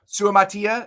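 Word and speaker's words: Suamataia: we talked about Kingsley Su Matia Su MAA Su Matia is that's how I had it I had it phonetically spelled out on my sheet just to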